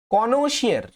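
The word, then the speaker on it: connoisseur: ওকে, next number 17 দেখো, কনোশিয়ার, কনোশিয়ার CONNO, কনো ISSEUR, এটা একটা ফরাসি শব্দ।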